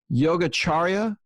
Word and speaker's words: Yogacharya: And her name, I'm going to try to pronounce this correctly, is Yogacharya Ellen Grace O'Brien.